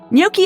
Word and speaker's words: gnocchi: Before potatoes came to Europe, gnocchi were most likely made with flour or even breadcrumbs. Don't pronounce the G.